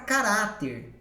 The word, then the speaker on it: caráter: A palavra caráter, né? Então vamos lá. Caráter é paroxítona, a penúltima sílaba é forte.